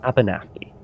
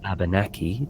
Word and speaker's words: Abenaki: We're a tribe called the how do you pronounce that? Abenaki? Abenaki, I believe, yeah. Abenaki.